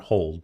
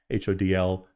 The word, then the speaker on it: HODL: HODL, not hold, but HODL, trade or learn.